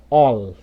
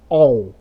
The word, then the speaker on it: all: Temos aqui, ó, sell, fuel e all, não é all, beleza?